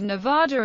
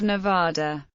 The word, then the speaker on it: Nevada: Many from outside the western United States pronounce it with the vowel of father Nida.